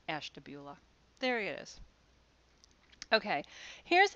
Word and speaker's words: Ashtabula: which i think anybody on the outside would pronounce as stabula but in ohio it's pronounced ashtabula there it is okay here's an example of